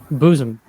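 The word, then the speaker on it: Boezem: Is that how you pronounce it? Bozem. Bozem.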